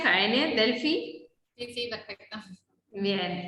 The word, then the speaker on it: Jaene: Así se pronuncia, Jaene, Delphi.